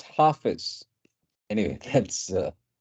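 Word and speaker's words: Hafiz: benefit to all concern H Baba so that's pronounced half is anyway that's uh like uh n pointed out and then I figured yes the right pronunciation is half is correct half is right yes yes so yeah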